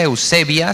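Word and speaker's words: εὐσέβεια: en el griego es se pronuncia eusebia se escribe eusebella en griego y significa así a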